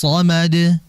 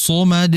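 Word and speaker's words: صمد: Nah, ketika masuk ke sad, jangan ketika baca sad itu ketika monyong, tapi dinetralkan, kembalikan dulu bibirnya, baru ucapkan sad. Contohnya seperti ini, Allahus hus. Nah, kalau kita perhatikan bibir, Allahus hus, ya, dikembalikan, jangan Allahus somad, somad, jangan dibaca monyong sadnya, tapi dinetralkan terlebih dahulu atau dikembalikan terlebih dahulu bibirnya.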